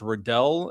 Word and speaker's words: Radell: Um and to pronounce my name, it's Rodel and then the podcast I run is Purple Political Breakdown.